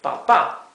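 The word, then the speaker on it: papá: daddy or dad right the word Papa has a TI here and the last a indicating that the the accent is in the last syllable Papa however the word tomato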